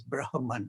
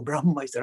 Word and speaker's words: Brahma: The ancient kind of sages said, the underpinning to this reality we define as Brahman, or Brahma is the right pronunciation.